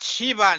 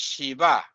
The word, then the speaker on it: Śiva: But Shiva, no, it's Shiva, not Shiva.